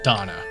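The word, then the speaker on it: Dohna: of the Garuda Warriors I don't know why you have to have extra letters in your name is just pronounced Donna what brings you out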